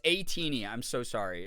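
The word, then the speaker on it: ATEEZ: Yeah, because that's the other thing is, it's A-Teeny. I'm so sorry. It's spelled A-Tiny, so I'm always like, why is it?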